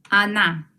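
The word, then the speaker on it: она: no vamos a repetir o no ella es a na miren la transcripción a na anna el equivalente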